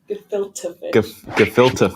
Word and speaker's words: gefilte: go here we go we're going to fill the fish is how you say it gefilte carrots on top and